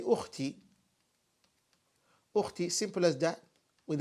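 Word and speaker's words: أخت: You would say sister as ukht. Ukht, like that, ukht.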